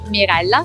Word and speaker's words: Mirella: My name is, the pronunciation of my name is Mirella, spelled Mirella, not the easiest Italian name.